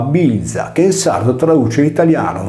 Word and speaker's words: Velia: In altre parole, con il betacismo che trasforma la consonante V in B, il termine si pronunciava bilza, che in sardo traduce l'italiano veglia.